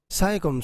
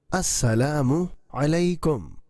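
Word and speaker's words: السلام عليكم: Saikum, saikum. Samikum, samikum. It is absolutely wrong. Assalamu alaikum. There is pesh over meme and ayn is pronounced through throat.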